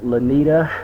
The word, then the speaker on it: Lynita: and her name is Miss lenita did I pronounce your name right that is correct okay how you going